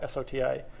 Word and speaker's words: SOTA: state of the art, S-O-T-A, which just kind of pronounced like soda by the time everyone says it in machine learning.